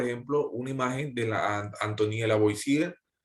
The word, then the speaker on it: Antoine Lavoisier: Bien, y bueno, aquí les dejo, por ejemplo, una imagen de la Antoine Lavoisier, en la pronunciación en francés, él es científico francés,